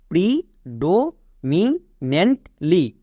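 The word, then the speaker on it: predominantly: আমি বলেছিলাম NANT যদি একসঙ্গে থাকে এর জন্য নেন্ট উচ্চারণ করবা। নেক্সট, LY এর জন্য কি হই? লি, তাহলে পুরোটা কি দাঁড়ালো? প্রিডোমিনেন্টলি, প্রিডোমিনেন্টলি।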